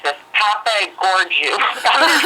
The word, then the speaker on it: Papageorgiou: Papa Gorgiou. I'm going to spell it for you. It's like Papa Gigio. It's like it was a movie character. Yeah. Yes, it's PAPAGEORGIOU. Wow. Okay. Papa Georgius or something.